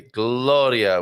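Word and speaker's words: Glória: Gloria with the accent on the O, of course.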